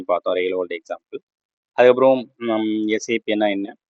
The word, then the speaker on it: SAP: அதுக்கப்புறம் எஸ்ஐபி வந்து சேப்பன்னு சொல்லாமல் எஸ்ஐபின்னு தான் சொல்லணும், ப்ரொனவுன்ஸ் பண்ணணும் அப்படின்ற மாதிரி சொல்லியிருந்தேன்.